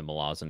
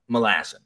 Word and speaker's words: Malazan: tired of people mispronouncing Malazan. And he's like, and I don't really understand why, because it's a really easy way to remember it. And he's like, the city is Malaz City.